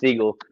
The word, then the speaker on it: Segel: I've been saying Oh. Seagal like Steven Seagal. It's Jason Segel.